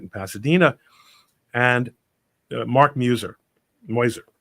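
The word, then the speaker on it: Meuser: Pasadena and Mark Muer moiser this is actually how his name is pronounced Mark moiser who ran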